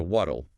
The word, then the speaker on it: what'll: What will contracts to what'll, Hmm. and the pronunciation hint here is crucial. It sounds like waddle, Waddle. Like a duck. like a duck. Waddle. Wait, is that the flap D again?